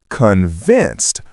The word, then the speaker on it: convinced: It's convinced with the stress on the second syllable.